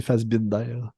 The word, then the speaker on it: Fassbinder: C'est Fassbender, puis l'autre, c'est Fassbinder.